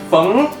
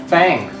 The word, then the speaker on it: Feng: tell that Westerner that feng is not pronounced as fang and you corrected him